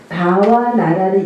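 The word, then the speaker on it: bhāvanā: 그거 브하가 아니라 그냥 바라고 읽으세요. 예. 바라고 읽는데 H니까 흐를 조금 넘나 봐. 그래서 바 그다음에 부는 부인은 당연히 비읍 발음이 나야 되는데 인도 사람들은 와 발음이 나요. 그래서 바와 그다음에 나 근데 뭐 여러분 요것까지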